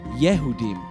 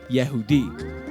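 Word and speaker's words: Yehudim: I said that the Hebrew word for Jews was yehoudim, but it's actually Yehudi, English with an M at the end sometimes.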